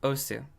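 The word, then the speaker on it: osu!: Then I found Osu. Or Os, as people like to say. Which I'm not gonna pretend to adopt a properly Japanese pronunciation of this stuff.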